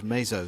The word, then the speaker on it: Mazo: And also I do want to point out that we've been pronouncing Mazo Amezcua's name incorrectly. I think we said it Mazo a few times in the first half. We've been told it is Mezo.